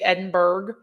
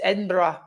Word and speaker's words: Edinburgh: See, American would say Edinberg. It's Edinburgh. I I was taught that by Scots in Scotland.